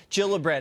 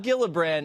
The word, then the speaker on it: Gillibrand: All right, so Kirsten Gillibrand, not Gillibrand. It's a soft G.